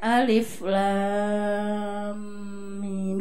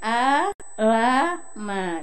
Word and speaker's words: Alif Lam Mim: Kan harusnya Alif Lam Mim gitu kan? Kan tulisannya A-La-Ma gitu kan? Itu dibaca alama. Saya kaget loh, kok alam bukan alama ya, alif loh, ini bacanya kan alama.